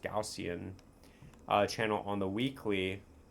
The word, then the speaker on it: Gaussian: Now, taking a look at the Gaussian, it's pronounced Gaussian uh channel on the weekly.